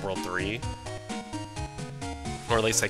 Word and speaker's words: WWW: In the anime, it's pronounced World 3.